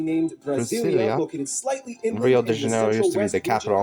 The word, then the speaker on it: Rio de Janeiro: That's right, it's pronounced Rio de Janeiro, not Rio de Janeiro. Get it right, we're not in Mexico. This is Portuguese, not Spanish.